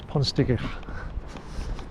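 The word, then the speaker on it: Pontsticill: Obviously somebody who's English, but proper pronunciation is Ponsticill.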